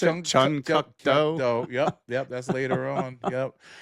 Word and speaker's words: Chun Kuk Do: Yeah, how you pronounce it? Chun Kuk Do.